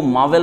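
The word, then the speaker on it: marvel: अब इसमें मार्वल, मार्वल का मतलब होता है, इसको मार्वल पढ़िएगा, मार्वल, जहां तक आर का पूरा प्रोनाउंसिएशन मत कीजिएगा।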